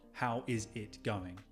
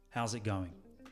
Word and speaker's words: how's it going: how is it going how's it going how's it how's it how's it going even that last word it's not going going how's it going kind of blending those words together and you will notice